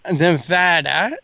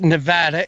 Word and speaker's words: Nevada: and that comes from there is a way that people from Nevada expect you to pronounce their name it and it is Nevada and it's not Nevada I did receive some